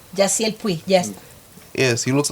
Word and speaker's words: Yasiel Puig: His name is, I don't know if I can pronounce it properly, Yasiel Puig. Jaciel Puig, yes.